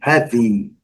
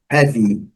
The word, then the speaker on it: heavy: Heavy, interessante a separação de sílaba, a palavra a pronúncia é have e a última sílaba é heavy, ok? Letra Y muito bem pronunciada com som do I curto, heavy. Primeira sílaba, a sílaba forte está marcada aqui.